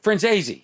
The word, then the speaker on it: Franzese: Frenzy.